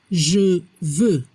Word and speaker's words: je veux: La pronunciación je veux. No se pronuncia la X al final.